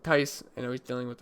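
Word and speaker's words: Theis: But if he's out, Daniel Tice, I think that's how you say his name. I've been pronouncing it Thies, but I guess it's Tice.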